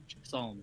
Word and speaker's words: psalm: Psalm. I assume. Psalm. Psalm. Yes, it's pronounced Psalm.